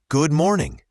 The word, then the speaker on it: good morning: Let's start with good morning. Notice how good and morning can blend. The D in good is often very light, almost like it disappears, especially when we say it quickly.